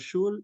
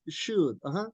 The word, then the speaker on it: should: And remember something that when you mention should, could, la L no se pronuncia. So it's not should, it's should.